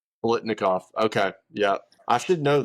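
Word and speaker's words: Biletnikoff: Um and then he won the uh I want to mispronounce the heck out of this. The Blitnikov award. Blitnikov.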